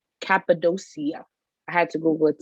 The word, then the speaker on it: Cappadocia: It's in Little Falls and it's called Cappadocia.